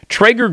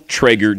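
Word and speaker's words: Traeger: or charcoal probably not the most delicious option Trager grills use real 100% hardwood fuel to grill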